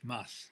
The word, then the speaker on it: Mads: And it's Mads, remember? Yes, Mads. So Mads is pronounced Mads Mikkelsen.